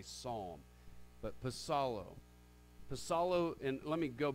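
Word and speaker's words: ψάλλω: the Greek word pasado the P is actually pronounced in the Greek language it's not solo like we would say psalm but pasado Vassallo and let me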